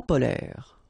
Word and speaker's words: polaires: So same thing here. E and S are not pronounced.